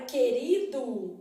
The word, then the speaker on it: querido: é pronunciado tão vendo na palavra querido Olha o que que acontece querido o que e o u formam dígrafo por porque a letra u é nula né ela não é pronunciada então é isso que